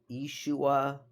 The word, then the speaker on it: Yeshua: Now, I've heard that Jesus would not have pronounced his name Jesus. It would have been like Yeshua or Ishu, something like that, right?